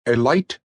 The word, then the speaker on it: Elite: Chug Scarrett was, and is, the proprietor and sole owner of the Elite Garage, and he pronounced it with a long I.